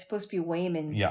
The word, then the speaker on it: Waymond: It sounds I thought it was Raymond, but it's supposed to be Wayman.